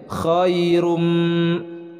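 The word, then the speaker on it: خيرٌ: huruf k nya bukan Khoirun tapi dibacanya khairum coba untuk latihan kalian semua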